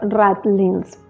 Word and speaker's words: ratlines: En realidad se debe pronunciar ratlines.